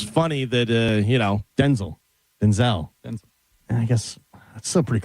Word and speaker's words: Denzel: pronounced Denzel.